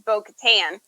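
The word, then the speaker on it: Bo-Katan: it was is it bo katan that she played yes um although she pronounces her name in the episode where they're in sea world she says it's boca tan oh it was mo katan and clone wars and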